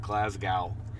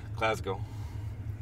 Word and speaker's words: Glasgow: visit Andrew's hometown of Glasgow. You know, my complaint with that pronunciation is less on the gal than the holding of the S for far too long.